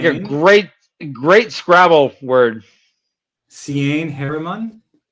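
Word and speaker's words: Seaine: it sounds like a great great Scrabble word Cen Heron Cen okay Cen c yeah Cen I I go Cen but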